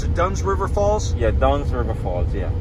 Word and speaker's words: Dunn's River Falls: Like now how do you pronounce it? Dunn's River Falls? Yeah, Dunn's River Falls, yeah.